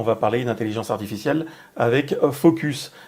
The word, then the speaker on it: Fooocus: parler d'intelligence artificielle avec Focus. Alors ça s'écrit avec 3 O, je pense que ça se prononce comme ça. On avait déjà parlé bien